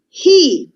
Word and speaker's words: he: He, La H invece in inglese si pronuncia, è un suono H, quindi he.